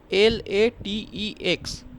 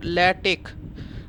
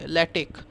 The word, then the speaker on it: LaTeX: format so so when you pronounce this okay l a t e x okay don't pronounce it as latex it is not latex it is called lattic this x you pronounce it at SK okay ltic so what we are learning we are learning